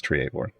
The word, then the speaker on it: Treavor: see an emote Trevor, but the pronunciation is Treavor.